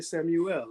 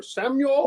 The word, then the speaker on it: Samuelle: I say Samuel. They go, "Oh, different." And then I go, "Yeah, she didn't want people to pronounce it because some people would just jack your name up and call you Samuel or Samuel."